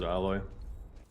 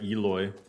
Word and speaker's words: Aloy: I like playing as alloy sorry Eloy Eloy Leroy are there